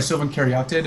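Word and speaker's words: Sylvan Caryatid: Silven cared. There's like sorry silven karate according to some pronunciation guides.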